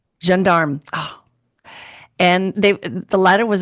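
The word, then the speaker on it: Gendarme: The Jandarm the Jearm Jandarm.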